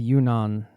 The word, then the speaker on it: Yunnan: And would you say, is this typical of, you came from the Yunnan province, right? Am I pronouncing that correctly?